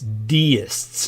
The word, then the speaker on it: deists: and by the way the pronunciation for their religion if we could call it that is deists they were deists their religion is called